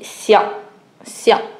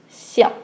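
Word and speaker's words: 象: Mais il prononce aussi Xiang. Ok? Xiang.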